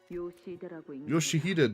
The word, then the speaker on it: Yoshihide: Yoshihide, that's how you say it.